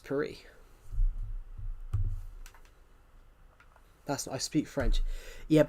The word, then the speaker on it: Paris: Yeah, the UK would say Paris, but in France, you would definitely take the S off because it's French. Yeah, in French, it's pronounced Paris.